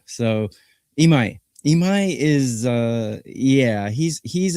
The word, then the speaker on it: Imai Tatsuya: Yeah, the proper pronunciation of his name is Imai Tatsuya. So Imai Imai is Yeah, he's he's a he's a cocky young guy.